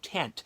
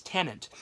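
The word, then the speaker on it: Tenet: it i think it's i always make it i think it's tenant i think i used to think at first it was called tent but it's tenant and it's basically though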